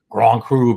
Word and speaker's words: Grand Cru: In France there are these gradations of wine, with Grand Cru being. How do you pronounce it, Miss May? Say it again. Grand Cru. Grand Cru, right? Like something stuck in the back of your throat.